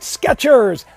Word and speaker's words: Skechers: Pronounce it Skechers. There's a T in there. There used to be a T, no more.